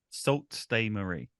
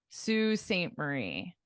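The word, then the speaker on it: Sault Ste. Marie: this one don't stay Larry one more time salt stay Marie oh very close very close obviously the Marie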